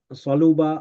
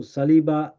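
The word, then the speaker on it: صلب: It comes from the root letters Sad, Lam, Ba, pronounced Saluba, also Saliba, and its Ismul Masdar is Salaba.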